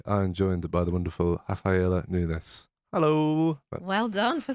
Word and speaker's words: Rafaela Nunes: back podcast today i'm joined by the wonderful rafaela nunes hello well done for saying my name right